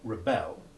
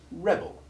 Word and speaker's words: rebel: remember the difference between the verb rebel which has unstressed short e3 followed by stressed short e1 and the noun rebel which has stressed short e1 followed by the unstressed short e2 iv sound this little word in